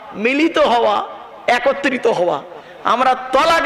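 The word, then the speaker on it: طلاق: স্বামী তার স্ত্রীকে বলে তালাক, বলে না? বাবা বলুন না, শব্দটা তালাক নয়, শব্দটা তালাক নয়, শব্দটা হলো তলাক।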